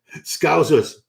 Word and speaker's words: Scousers: what they're called scousers scousers is that what they're called SC like it's it rhymes with trousers because I was like